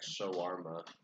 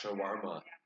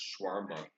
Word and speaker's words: shawarma: try to say like shawarma because I know it's pronounced shawarma it's not just shwarma like most like white